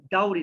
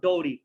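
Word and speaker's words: dowry: ওকে, একইভাবে ডাউরি, নট ডৌরি।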